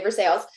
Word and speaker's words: Versailles: She's from this town in Kentucky, Versailles, even though it's spelled Versailles. It's a real town, and we really say Versailles.